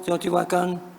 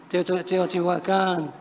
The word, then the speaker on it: Teotihuacán: Hoy existe en México un debate en torno a la pronunciación aguda de los topónimos Teotihuacán, Tenochtitlán, Coyoacán, etc., las cuales deberían de pronunciarse, según algunos, con una acentuación llana.